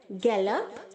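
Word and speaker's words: gallop: Okay, गैलीवेंट्स, गैलीवेंटिंग, गैलप, गैलप्ड, गैलप्ड। यहाँ पर जो बच्चों GALL के आगे ओ है वो ए की तरह साउंड करेगा। आप गैलोप नहीं बोलेंगे, गैलोप, गैलोप्ड नहीं, गैलप, ओके।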